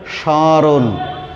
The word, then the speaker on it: স্মরণ: এবং এই স্বয়ের সাথে চন্দ্রবিন্দু দিয়ে উচ্চারণ করতে হবে, কারণ ম ফলা হলেও এটি নাসিক্য ধ্বনি, তা নাসিক্য ধ্বনি সবসময় নাকের সাহায্যে উচ্চারণ করতে হবে, ঘ হবে, বলতে হবে স্মরণ।